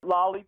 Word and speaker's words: Lally: how you say it Lally productions I took it from my name Lally production it was a you